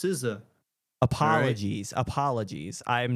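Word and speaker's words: SZA: seen several of these ads actually and it's pronounced siza apologies apologies I am not unfamiliar with siza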